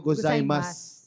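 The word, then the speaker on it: ございます: Mali Pa basa mo Ohio gozaimas silent you May ganun pa rin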